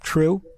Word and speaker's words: Truc: True? Yes. That's an unusual name. Yeah, I don't get it either because it's spelled Truc, but then that's my entire life. That's what I've been called.